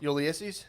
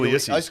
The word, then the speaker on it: Ulysses: How do you say Ulysses? it? There you go. Ulysses? Nope. The Ulysses. first one. Yeah. Ulysses. I was trying to remember how you said it. No, I used to call him Ulysses.